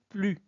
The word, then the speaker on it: plus: ne prononce pas s on ne prononce pas le S donc on dit plus c'est bon plus 2